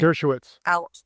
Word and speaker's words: Dershowitz: Dershowitz. Dershowitz? Dersh, just like Dershowitz.